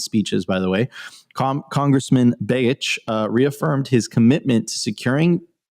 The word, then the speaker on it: Begich: Congressman Nick, I don't know how to say it, pronounce that last name, Begich, thank you, Opti, and Senator Lummis introduced Landmark Bitcoin Act to establish a U.S.